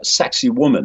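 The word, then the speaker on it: Sacsayhuamán: a very famous place sexy woman that is one way they pronounce it and there are these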